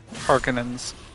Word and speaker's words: Harkonnens: Is that how it's pronounced in the audiobook? Harkonnens.